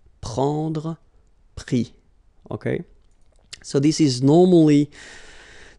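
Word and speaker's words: pris: And then prendre, so e-n-d-r-e will give es, prix, okay. Same thing here, you don't pronounce the final s, okay.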